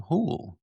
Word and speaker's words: Houle: And today we have with us Hool. Did I pronounce that right? Hool.